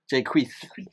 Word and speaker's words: Jacquees: It's not Jake. People remember his version. Jacquees. No, but people remember his version. You gotta say his name like you got lisp. Jacquees.